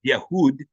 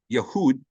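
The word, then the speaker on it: יהודה: Judah whose father you know Jud would actually pronounced yahood yahood and whose father was Israel or yasharel this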